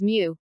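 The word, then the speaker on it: μ: moment is denoted by Greek letter pronounced as Mu hence the first moment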